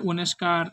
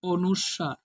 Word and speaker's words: অনুস্বার: নিঃস্ব নিঃস্ব তারপরে অনুস্বার এটার উচ্চারণ আমরা অনেকে অনেস্কার একেক রকম একেকজনে করি এটা আসলে অনুস্বার অনুস্বার দিয়ে যেমন অহংকার